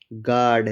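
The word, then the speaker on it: guard: कहीं भी लिखा हुआ हो जी, उसके बाद आया हो ऊ, यू उसके बाद ए हो या कोई भी वावल हो, तो जो यू होगा वो क्या होगा? साइलेंट होगा।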